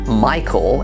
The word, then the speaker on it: Michael: In other words, I could spell my name Michael, M-Y-K-U-L, and it would sound exactly the same.